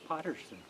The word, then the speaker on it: Patterson: Well, in the Scots language, those two names are pronounced quite differently. Can you do it? Paterson. Oh, okay. Is this. Yeah. Paterson. And the one with 2 T's is Potterson. Patterson.